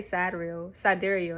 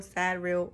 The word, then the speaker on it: sidereal: So Vedic is also known as Sadril, or how do you pronounce it? I say Sidereal, that's how they say it. So you'll hear them say Sidereal, Sadreal, or Vedic, and then tropical is also known as Western, right?